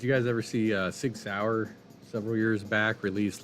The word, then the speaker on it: Sauer: Sauer.